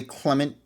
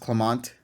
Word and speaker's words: Clemont: why an x y they when they say clement when his name is pronounced clemont i think clinton and clement it's it's like